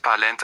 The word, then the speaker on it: parlent: Ils parlent and elles parlent take ent, which is silent.